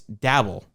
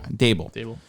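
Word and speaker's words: Daboll: And it's Bill Belichick texting Brian Flores accidentally, thinking that it's Dabble. Correct? I'm pronouncing his name correct. Dable.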